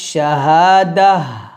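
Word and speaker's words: الشهادة: আর যদি আমরা এখানে ওয়াকফ ধরি তাহলে বলবো আলিমুল গায়বি ওয়াশ শাহাদাহ, দাহ এভাবে, অর্থাৎ এই গোলতাটা জজমলা গোল হা হয়ে যাবে, দাল হা জবর দাহ, এভাবে উচ্চারণ করব।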